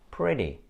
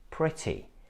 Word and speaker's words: pretty: by vowel sounds and you should not pronounce it like d because this is what Americans do they say pretty pity City but in British English these words sound like pretty pity CT so if you want to sound more British make sure that you pronounce t instead of De but we can